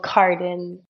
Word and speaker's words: Cardin: what I've actually been switching up the way that I've been saying my own last name you know depending on where I am so it's totally normal that you would be confused in the pronunciation I've been saying it's a French people Cardin but yeah I I mean my parents named me because we're French speaking but I mean I say Charlotte Cardin whenever I'm in the